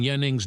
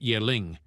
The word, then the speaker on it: Yaning: Commander Xiao noticed that these guys were mispronouncing Yaning's name. As if sensing this, the guy immediately decided to clarify that his name was Yaning, not Yeling.